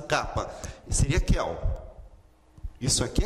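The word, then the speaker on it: κάππα: Kappa, kappa. Note que ela está grafada aqui, já em português e em grego. A pronúncia dela é o C ou K. Sempre essa pronúncia.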